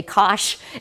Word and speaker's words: cosh: the hyperbolic sine and that really is how you say it you say cosh and Finch it's kind of silly